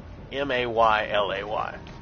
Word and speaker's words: melee: at the way that you say that word melee. To me, it's pronounced m a y l a y, but I've got some people who pronounce it melee because of the way it's spelled.